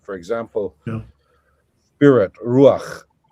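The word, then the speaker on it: רוח: For example, spirit, ruach. So it's ruach. The accent is on the U, and it's just a short A, and the A is written to the right of the chet, not straight underneath it.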